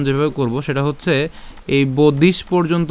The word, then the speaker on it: বাদাংশ্চ: ঠিক আছে, এরপর বাদাংশ, তালব্যস্যটাকে আগে উচ্চারণ করে তারপরে চকে উচ্চারণ করছি, বাদাংশ।